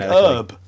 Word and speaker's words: herb: hilarious because like um the american pronunciation doesn't pronounce the h like in the word h when you like write it out yeah like herb herbs when you have